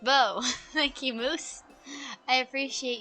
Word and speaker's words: Beau: Beau is pronounced Beau.